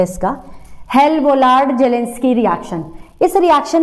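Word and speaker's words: Hell-Volhard-Zelinsky: Check कर लेना एक बार एनसीईआरटी में से, प्रोनाउंसिएशन यही है इसका, हेल-वोलार्ड जेलेंस्की रिएक्शन।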